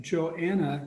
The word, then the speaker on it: Johanna: So then we have Johanna, the H is silent silver.